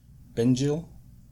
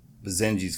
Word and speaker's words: Basenji: she's a binge eel is that how that's pronounced Ben Jill I think it's been Jo oh they're called bazaine geez that's what it is bazaine jeez because my mom goes oh she's a pajama